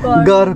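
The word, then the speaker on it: গঁড়: गर गर गौर, हम लोग असमीज में प्रोनाउंस करता है गौर, राइनो मतलब।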